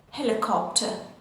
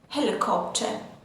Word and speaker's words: helicopter: In British English, we don't pronounce the r sound and we say helicopter, helicopter.